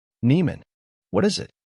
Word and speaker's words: Nieman: I am I answered what your last name Neiman what is it Neeman I said louder how do you spell that and I man I took my time